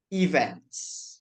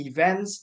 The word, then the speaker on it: events: Only that maybe the insight that I want to give to you, Sister Visaria, about the pronunciation of events. It should be events, not even, by the way.